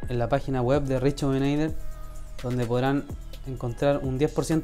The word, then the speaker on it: Reshoevn8r: Así se pronuncia, Rejuvenator. El 8 se pronuncia como un 8. Lo pueden comprar en la página web de Rejuvenator, donde podrán encontrar un